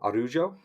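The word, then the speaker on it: Araújo: Silva versus Vivian AR arujo arujo that's how you pronounce it Karen Silva versus Vivian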